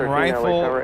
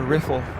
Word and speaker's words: Rifle: is coming in from rifle Garfield County there in Colorado is it pronounced rifle or riffle I think it's rifle kelse with10 super Kelsey